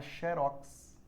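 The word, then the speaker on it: xérox: e há a palavra sherox no vocabulário ortográfico. Só que xerox é oxítona, eu não vou usar o acento. Sherox, eu quero que ela seja paroxítona. Então você vai ter que empregar o assento.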